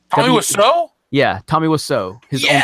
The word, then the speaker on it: Wiseau: Wassau? How do you say his name? Tommy Wiseau?